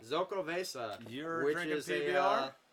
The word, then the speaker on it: Xocoveza: Xocoveza. Xocoveza.